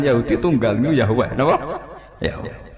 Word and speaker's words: Yahweh: Yahweh. Iku nak teng ejaan Latin Y besar, A H besar, W E H besar, Yahweh.